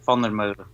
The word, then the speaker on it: Vandermeulen: Andre, tell Don, Mr. Vandermeulen. Am I pronouncing that correctly, sir? Vandermeulen? Yeah, Vandermeulen. Okay.